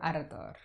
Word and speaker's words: Ardor: Sorry, I can never pronounce That's okay. it. Dolce. Dolce. Very good. Adore. Ardor.